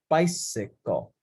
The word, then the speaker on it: bicycle: it's pretty good bicycle bicycle sounds like you don't say buy sickle it's three syllables so i'm gonna do